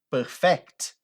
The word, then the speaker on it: perfect: fala desse jeito aqui quando você pronuncia Perfect com a ênfase no final você muda o significado dessa palavra ela passa a ser o verbo aperfeiçoar olha para você ver